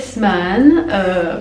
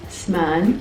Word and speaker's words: Sman: Donc je m'appelle Sman, pour ceux qui ne savent pas le prononcer, donc ça se dit Sman, voilà.